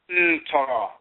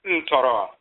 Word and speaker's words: ntoro: Some people say netter, neuter. In Coptic, you'll see nute. That's one variation. Ta nute, and so forth. In Akan, you'll find that NTR is pronounced ntoro. And then you'll also find in Ebe is toro or TRO, toro. We pronounce it ntoro.